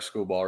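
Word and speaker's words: Skubal: Yeah, Tarek Schoolball, right? That's how you say it. Yes. Schoolball, yeah, Schoolball.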